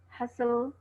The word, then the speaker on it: hustle: Just like listen, fasten, castle, hustle, and whistle. They are T is silent.